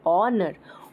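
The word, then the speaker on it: honour: एन यूज कर करेंगे इसमें एच साइलेंट हो जाता है एंड व we pronounce it ऑनर of sound is there so we will put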